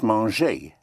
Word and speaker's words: manger: To eat is manger. To munch, to eat. Manger is spelled like manger.